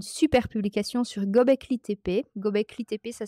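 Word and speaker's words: Göbekli Tepe: il a une super publication sur Gobekli TP gobcli TP ça s'écrit g o B E K L i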